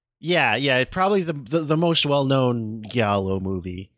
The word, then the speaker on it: giallo: Yeah, probably the most well-known Giallo movie. Or Giallo. I don't know if it's a hard G or a soft G. Giallo.